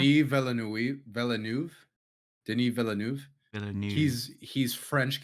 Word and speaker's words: Denis Villeneuve: How do you pronounce his last name? Denis Villeneuve.